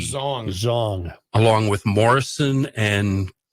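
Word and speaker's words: Xiong: the authors please uh how do you pronounce x i o n g zong zong along with Morrison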